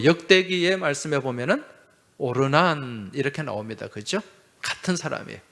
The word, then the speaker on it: 오르난: 또 역대기의 말씀에 보면은 오르난 이렇게 나옵니다. 그죠? 같은 사람이에요. 오르난의 타작마당, 아라우나 타작마당. 이 아라우나는 여부수식 발음이고, 이 여부수 사람이잖아요. 여부수식 발음이고, 오르난은 히브리식 발음이에요.